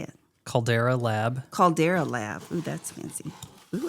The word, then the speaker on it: Caldera Lab: how you pronounce it that's not how you pronounce it no Calvin how do you say it Caldera lab Caldera lab that's fancy oh it's a body